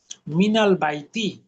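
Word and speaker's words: مِنَ الْبَيْتِ: এই জন্য মিনটা পড়তে হয় মিনা, মিনাল বাইতি।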